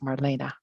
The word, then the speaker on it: Marlene: And although it's, um, E ne, it is pronounced Marina.